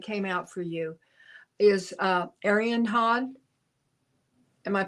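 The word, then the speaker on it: Arianrhod: out for you is Arianhod. Am I pronouncing that right, Heather? I've heard her pronounced as Aryan Rod. So. Aryan Rod. Okay. The H is silent, I guess.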